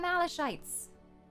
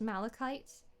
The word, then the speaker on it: malachite: It's officially pronounced Malachite, but I remember I played World of Warcraft when I was a much younger elf, and I was determined that it was pronounced Malachite.